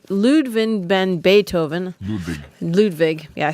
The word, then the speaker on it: Ludwig: have some and there was never enough composer ludwin ludwin ben beethoven ludwig yeah i said it wrong complained of a